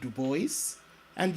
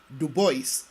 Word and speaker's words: Du Bois: popularly known as web Duo and yes Duo not duoa I'm being faithful to the way he pronounced his name web Duo was a